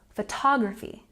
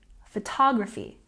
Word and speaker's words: photography: look at this word do you know where to put the stress there's a lot of syllables here but if you listen to someone like me say it you'll know that we put the stress here on the second syllable photography photography now this could get